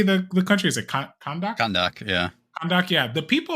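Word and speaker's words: Kahndaq: Kondak.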